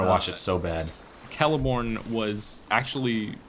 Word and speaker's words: Celeborn: Yeah, a hard Okay, C is in okay. cat, it says. Because I've always called him Celeborn, but I'm sure you've researched this, so that's why I asked. Extensive research, and apparently, here's a little Hard C like a cat.